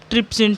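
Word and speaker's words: trypsin: ट्रिप्सिन English में कैसे लिखेंगे, PTRIPSIN, पी इसमें साइलेंट होता है, ट्रिप्सिन, ठीक है।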